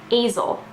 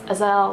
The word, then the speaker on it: Aysel: you think it's pronounced azel because it's spelled a-y-s-e-l but throughout the book you hear her kind of saying to other people no it's not azel it's azelle like gazelle and for a while